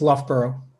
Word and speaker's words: Loughborough: name of your university uh would you please pronounce it correctly for the record it's loughborough thank you very much you're very welcome um